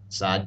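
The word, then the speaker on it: ص: letters we've learned before essentially these two letters are pronounced as S's and D's just as seen and dull were except these letters sound a bit dark darker or heavier the best way I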